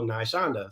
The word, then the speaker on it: Naishonda: the right pronunciation because my niece her name was nylon is spelled with the same nai's beginning and the last part shonda so naishonda so that's how i